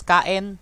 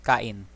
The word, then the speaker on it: kain: as bola to eat some people pronounce this is kaen that's a more colloquially thing but you know for all purposes right now it's kain next is kali which